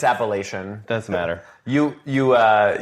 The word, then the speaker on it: Appalachian: He's been on that for Appalachin. Thank you. No, it's Appalachian.